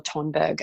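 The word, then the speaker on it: Thunberg: time right now is Greta Thornburg or tunberg and it would be the Swedish pronunciation is she's a 16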